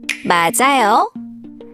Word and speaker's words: 맞아요: starts with a vowel, the final consonant moves over and is pronounced with the next syllable. So it sounds like 맞아요, 맞아요.